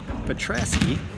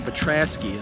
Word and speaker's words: Petrasky: number 12 elijah attract petrovsky seth nafts gabe shepherd sinclair bias and sammy homernick fabio elijah petrasky is his name sorry miss pronounced that name you'll probably get that